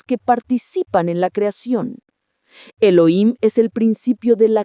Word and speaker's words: Elohim: Segundo nombre, Elohim. pronuncia Eloim.